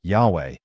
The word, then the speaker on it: Yahweh: Jehovah's Witnesses themselves admit, Jehovah is not the correct pronunciation of the Tetragrammaton, the 4 Hebrew consonants that represent God's name in biblical Hebrew. In fact, in each country, witnesses pronounce it differently depending on the language, and in their own publications they acknowledge that most scholars agree that the pronunciation Yahweh is closer to the original.